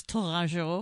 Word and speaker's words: Tourangeau: pronounce it American style, but of course in French it's Tourangeau. Oh, how pretty. Yes, and but for those of us listening here in America, to remember it, an easy phonetic hint is banjo.